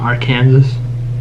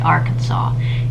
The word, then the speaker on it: Arkansas: right Arkansas in Arkansas you must pronounce the state name correctly so it's not my Kansas yes I mean for us to convene but for them they have to say Arkansas if that's actually how you